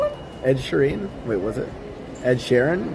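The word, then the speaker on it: Ed Sheeran: Ed sharen M yeah what' you call him Ed Shireen wait was it Ed Sharon how do I say his name I don't know Ed Shireen it's Ed Sharon Eder Ed Sheran Shar oh whatever in France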